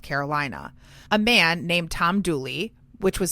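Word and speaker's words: Dula: A man named Tom Douly, which was spelled D U L A but pronounced Douly in the local dialect, was born in Elkville, North Carolina in 1844. Dulie had a long-standing relationship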